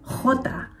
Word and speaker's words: jota: Ang letter J naman sinasabi bilang jota. Katulad ng letter G na ke, yung J sound ay parang hard H. May hagod kumbaga. Hot.